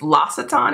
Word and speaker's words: L'Occitane: Then I also picked up I think I was telling you in another haul that I picked up the, I think it's L'Occitane is how you pronounce the brand.